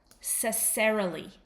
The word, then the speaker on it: necessarily: pronouncing a word, then you start at the end and you just practice lee. Lee. Practice it in the mirror and say lee. Lee. And then say really. And then put the next syllable on. Serily. Serily. Serily. Finally, you say cerily. Necessarily. Cesserily. You just keep doing this. Start at the back of the ver the word necessarily.